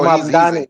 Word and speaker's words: Mamdani: What you talking about, Magdami. brother? Magdami. Oh, So Mamdani.